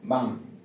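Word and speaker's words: balm: बी ए एल एम बी ए एल एम एल आया हुआ है एल के जस्ट बाद में आपको क्या मिल रहा है एम एम केटी बताया था तो आपको ध्यान रखना है इसको पढ़ना है बाम क्या पढ़ना है बाम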